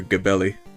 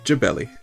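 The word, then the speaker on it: Gebelli: think a lot of people now would think that his name is actually nasir gabelli but it's jebelli jebelli it's a hard g sound and they they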